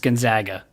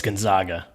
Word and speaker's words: Gonzaga: Matt says it's pronounced Gonzaga. He just spelled it. Got it. Yeah. Perfect. So it's Gonzaga. Final answer there.